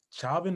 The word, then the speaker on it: Chauvin: And that just brings me into the case that's going on with George Floyd and Derek Chauvin. How do you pronounce his name?